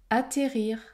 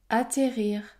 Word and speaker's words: atterrir: prononce un seul S atterrir atterrir je prononce un seul t il existe pourtant en